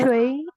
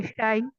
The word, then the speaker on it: 谁: Okay, both of the two pronunciations are right. 谁 or 谁. Okay, the, Shui or Shai?